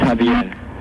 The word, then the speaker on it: Javier: It's Javier. What is it? Javier. Javier. Okay. How do you spell it?